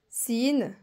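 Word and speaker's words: س: Et ça, c'est le Sin qui représente le S. Sin.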